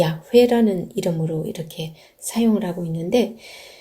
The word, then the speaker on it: 야훼: 20 근교의 는 여호와 하나님이 이름을 항상 이 야훼 라는 이름으로 이렇게 사용하고 있는데 어쨌거나 여호와 하느님과